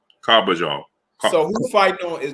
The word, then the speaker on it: Carbajal: Carbajal.